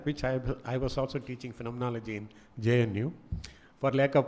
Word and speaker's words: phenomenology: That's how you pronounce it, hermeneutics, phenomenology.